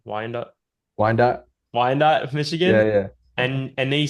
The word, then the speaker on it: Wyandotte: he said that, they started doing kendama nights for everyone in, I don't know how to say this, Wyandotte. Wyandotte, Yeah, Michigan.